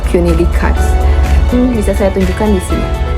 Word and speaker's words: René Descartes: Saya sudah mencari juga penyebutan yang benar itu seperti apa, ini benar atau tidak, dan saya menemukan pronounce Prancisnya yaitu René Descartes.